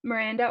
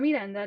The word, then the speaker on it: Miranda: Okay, so I titled it Sustainability Action in Indiana, and I am Miranda or Miranda, depending on the English or Spanish pronunciation.